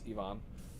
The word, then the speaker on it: Ivon: It's not Ivan, it's Ivon. um because he's uh it's a Latin name but it's spelled like Ivan anyway that he he